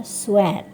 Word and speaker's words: sweat: Keringat itu bahasa Inggrisnya sweat. Jadi bukan sweet tapi sweat, keringat.